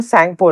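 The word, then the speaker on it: Tsangpo: गया है वो है सेंगपो रिवर। इसमें टी साइलेंट है। ये ध्यान रखना।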